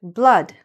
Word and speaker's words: blood: This word, blood, right? The blood in your veins, in your body, blood. I know there are two O's there, but it's still pronounced something like this.